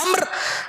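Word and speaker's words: عمرو: उच्चारण में इसमें तीन अक्षर हो सकते हैं। लेकिन जब इसे लिखा जाता है , तो इसमें चार अक्षर होते हैं: ऐन, मीम, रा और वाव, जिन्हें अम्र पढ़ा जाता है।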